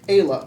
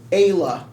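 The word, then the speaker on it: Eibhlea: Ayla. How do you And say you Nice. remember how to spell it. Okay. E-I-B-H-L-E-A. Okay. Taste your own medicine. H-L-E-A. L. That's Ayla.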